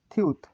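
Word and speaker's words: 티읕: দেখতে, এটার নাম হচ্ছে থিউত। থিউত, থিউত, এটির উচ্চারণ থিউত। এটির উচ্চারণ থিউত। থিউতের উচ্চারণ কি হয়? এটির উচ্চারণ থিউত। থিউতের থ, প্রথমে থ, মাঝেও থ, নিচে ত উচ্চারিত হয়।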